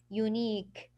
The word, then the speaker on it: unique: So you will stop on the K, so it will give you the sound unique.